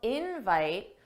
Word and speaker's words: invite: for the invite and notice how invite the stress is on in that's the stress syllable daada invite invite thanks for the invite and that's because in this case invite is a noun and that's why the stress is on the first syllable invite is short form